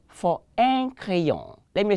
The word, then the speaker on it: crayon: I told you that the R is a celebrated letter. Anywhere you see it, it has to be well pronounced. So un crayon. Let me say un crayon. Again, un crayon. Crayon. The vibration of the R to the Frenchman is coming from the gullet. And so you have to learn how to pronounce the way the Frenchman pronounces.